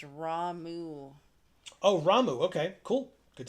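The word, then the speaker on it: Ramuh: Uh, Christopher says, "That one's pronounced Ramu."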